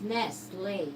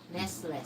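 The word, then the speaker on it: Nestlé: It's pronounced Nestle, not Nestles.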